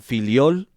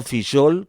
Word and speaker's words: Fillol: Me gustaría saber porque algunas veces la W los argentinos la pronuncian filiol y no fishol como ellos pronuncian la W.